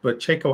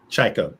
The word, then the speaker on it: Tchaiko: But Tchaiko, I want to go back a little bit, and your debut film, Solace. Tchaiko. See, Tchaiko. What did I say? Tchaiko. I am going to get it right. Tchaiko.